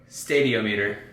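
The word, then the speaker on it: stadiometer: that push your portable Stadio meter there you go just say it like you mean like you know like you're so confident it's like the stadium meter push the portables portable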